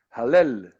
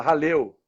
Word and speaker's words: Hallel: Salmo 113, que é o primeiro salmo do Hallel. É assim que se fala, né? Você estava me ensinando aí a pronúncia correta. Eu falava Halel, e ele me ensinou.